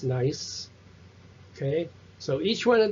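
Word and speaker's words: gneiss: into a schist into a nice that's pronounced nice okay so each one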